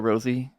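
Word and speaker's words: Rosé: presence because I think she's pronounced Ros yes or you can call her Rosie people do Ros Rose's I feel like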